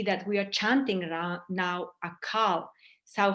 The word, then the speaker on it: Akaal: you can see that we are chanting now a call so how do you chant it is inhale and you pronounce a a like that so you chant the AAL immortality Mantra with a long a the end and you